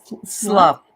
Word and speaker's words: slough: How do you say that word? Slough. It's like S-L-U. Yeah, slough. Okay. Yeah. It looks like sloth.